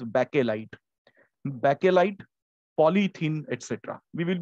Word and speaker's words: Bakelite: This is one word which is mostly pronounced in a wrong manner. People call it bakelite. It is bakelite.